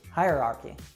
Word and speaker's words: hierarchy: very similar to that so you'd say higher archie hierarchy something else that can